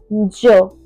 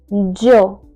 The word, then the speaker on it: yo: So the first pron or the pronoun that we have in Spanish is Joe. Joe. Joe. If you look carefully at the spelling, it is Y and an O.